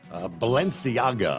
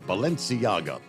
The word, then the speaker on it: Balenciaga: Balenciaga, I believe is the way you pronounce it. Balenciaga.